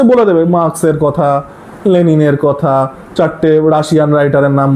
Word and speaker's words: লেনিন: পয়েন্টটাই ছিল চীন এইচল লেনিন কার্লমার্ক and everything বাঙালি বাঙালিরা তো লেনিন উচ্চারণ করে লেলিন উচ্চারণ করে বাঙালিদের এই শেক্সপিয়ার আর শেক্সপিয়ারকে শেক্সপিয়ার লেলিন লেনিনকে লেলিন হোভার তো এদের রেফারেন্স